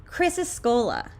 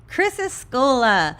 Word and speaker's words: Chrysocolla: I bet you're wondering how to pronounce this stone's name. Chrysocolla. Chrysocolla is one of these stones that we do not want to put in elixirs.